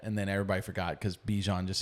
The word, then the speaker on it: Bijan: Yeah, Bijan. It's Bajan. That's what he said. Like you saw Bijan that mustard.